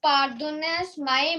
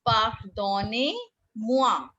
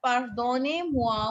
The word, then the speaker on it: pardonnez-moi: is the meaning of pardonnez my monsieur? No, now see, it's pardonnez-moi. Write it down how we speak it. We speak it as pardonnez-moi, monsieur.